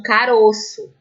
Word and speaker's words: caroço: acontece também com um caroço ó esse o faz parte da sílaba tônica e ele é fechado caroço quando eu coloco no plural